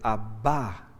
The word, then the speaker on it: Abba: Si fuera solo Padre diría Abba, pero es Abba con acento en la última A, el acento en la última, y quiere decir el Padre.